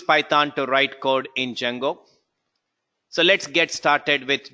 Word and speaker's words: Django: how to pronounce it it's called as Django not D Django well this is a